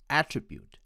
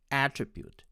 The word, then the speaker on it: attribute: attribute with the stress on the third syllable and my american friends will pronounce it as attribute attribute with the stress on the first syllable next is a sentence